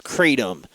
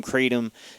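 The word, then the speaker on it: kratom: um and it's fairly cheap too then there's katom this is bad stuff you might see some people recommending this online it's spelled k r a t o m this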